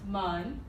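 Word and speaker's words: 门: And this is the Chinese word for door, and it's pronounced mun.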